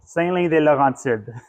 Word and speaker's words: Saint-Louis-des-Laurentides: The actual town is called Saint-Louis-des-Laurentides.